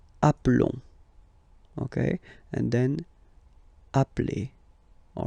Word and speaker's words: appelle: You tend to pronounce it like really open.